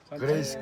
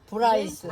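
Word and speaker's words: Bryce: 발음이 좀 이상해. 그레이스 캐년? 아 그래. 브라이스.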